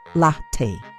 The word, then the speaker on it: latte: Mistake three, pronouncing latte wrong. Many Indians say lat. The correct pronunciation is latte, not lat.